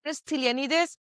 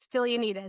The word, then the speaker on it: Stylianides: Here we are with Stylianides. How do you pronounce it? That's exactly right. Stylianides.